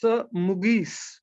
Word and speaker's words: Mugees: Mugees, do you pronounce your name with a hard G or a soft G? It's Mugees.